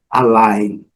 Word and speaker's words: align: Align, o I recebe o som do I, que é o som original dele, né? Align. O A é uma letra bem fraquinha aqui, pronunciada com esse símbolo aqui, que é o símbolo do schwa. Então é align.